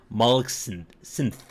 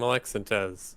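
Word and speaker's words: Molek-Syntez: that to more programming focus until making a molex synth well i'm pretty sure i just horribly butchered that one molexantos there we go um it's russian maybe maybe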